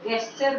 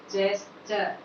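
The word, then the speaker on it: gesture: Next word आपका आता है, इसे कुछ लोग गेस्चर बोलते हैं, कुछ लोग इसको गा का साउंड लेकर बोलते हैं, लेकिन ये इसका सही प्रोनाउंसिएशन है जेस्चर, जेस्चर, नॉट गेस्चर, इट इज जेस्चर, जेस्चर, गेस्चर नहीं है, ये जेस्चर है।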